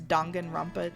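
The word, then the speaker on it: Danganronpa: Dang and Rampa too. Sorry. Sorry. Sorry. Sorry. I I committed to saying to saying it correctly, too. So, it's Dongan Rompa too.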